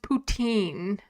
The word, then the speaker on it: Poutine: It's pronounced poutine in French.